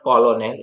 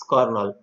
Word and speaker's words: colonel: Lieutenant में बोलने में एफ आता है, लिखने में नहीं आता, और कर्नल वैसे में अभी आपको पढ़ाया नहीं, अदरवाइज आप ऐसे ही पढ़ते कॉलोनेल, इट्स नॉट कॉलोनेल, इट्स कर्नल, तो उसमें आर नहीं लिखते।